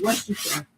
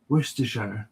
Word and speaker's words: Worcestershire: I'd move as well if I couldn't pronounce the place I lived. It's Worcestershire. Sorry? It's Worcestershire. Isn't it? Worcestershire.